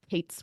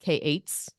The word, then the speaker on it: k8s: don't know about this Kate's one I would say that I usually see it pronounced k8s rather than Kates but there is a